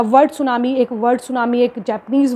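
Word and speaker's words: tsunami: next is द सुनामी इसमें T silent होता है इसको बोलते हैं सुनामी द सुनामी है दैट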